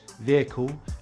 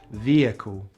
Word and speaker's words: vehicle: The letter H in the word vehicle is pronounced with a short vowel I in British English and a long vowel E in American English. So British English, vehicle; American English, vehicle.